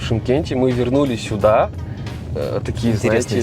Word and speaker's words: Шымкент: И, кстати, почему пишется Шымкент? Жиши, как мы знаем. Раньше этот город назвали больше на Че, то есть это Чимкент. Шымкент. Те, кто здесь живут давно, они в основном сейчас говорят Чимкент.